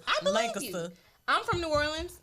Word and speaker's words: New Orleans: I'm from New Orleans. We pronounce New Orleans, New Orleans.